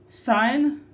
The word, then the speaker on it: sign: याद रखें, यदि जी एन के पहले आता है तो क्या होता है? जी साइलेंट होता है।